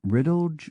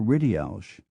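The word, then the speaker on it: Ridealgh: d e a l g h can be pronounced riddle or rid ALS some members of the P pyss family pronounce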